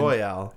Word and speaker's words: Royale: And Royale is how you say the word.